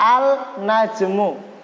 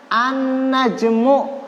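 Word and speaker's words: النجم: ada an najmu Hai An najmu enggak boleh dibaca alna jenguk tapi dibacanya an najmu awalnya ini melebur ke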